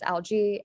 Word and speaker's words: algae: So yeah, the singular is alga, the plural is algae, and it's pronounced with the E sound. So the AE is pronounced with that E sound.